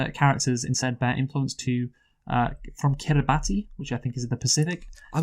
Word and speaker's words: Kiribati: The finished characters instead bear influence from Kiribati, which I think is in the Pacific. I've also, by the way, and no one can fault you for this, I'm pretty sure it's actually pronounced Kiribati.